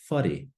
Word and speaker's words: whare: that we just went through, how would you pronounce the following? So our first kupu, whare, whare, house, whare.